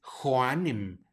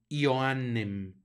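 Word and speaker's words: Ioannem: el nombre de Juan recuerden que no es Juan sino ioan Joan hacemos el énfasis para que se note la doble n y la J la pronunciamos como y muy bien pues Esas son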